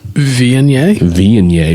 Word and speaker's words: Viognier: It's pronounced Viognier.